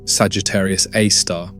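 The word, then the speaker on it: Sagittarius A*: That black hole is called Sagittarius A, pronounced Sagittarius A star and it holds about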